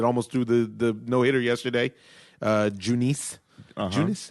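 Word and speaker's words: Junis: threw the no-hitter yesterday, Junice. Junice? How do you say his name? Eunice, I do.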